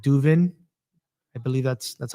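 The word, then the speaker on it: Duvin: they did with um this apparel brand called Duven.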